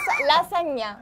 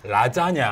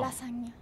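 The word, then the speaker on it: lasagna: 라사냐. 왜 짜장면 나와? 라자냐. 라사냐. 저 라자냐 알고 있는데 원토 발음이 라짱냐. 라짱냐. 맞아요, 맞아요. 근데 이탈리아 발음 라사냐. 라사냐. 라사냐.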